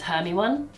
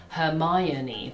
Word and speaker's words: Hermione: I read Hermione as Hermione Makes sense. because I just read it as it should be. Like, how was I meant to know? You meant to pronounce it Hermione.